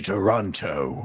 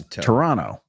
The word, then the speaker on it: Toronto: So many people say Toronto and with the hard T. Oh, Toronto. It's Toronto.